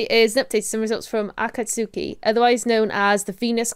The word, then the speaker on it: Akatsuki: oh it I went to Google how to pronounce this I've cut Sookie at cuts Akatsuki it's all English of Japanese words or Chinese